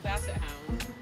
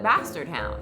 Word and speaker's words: basset hound: Some of us pronounce it bastard hound.